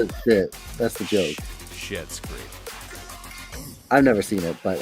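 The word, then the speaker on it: Schitt's Creek: but they pronounce Oh. it shit. That's the joke. Shit's Creek.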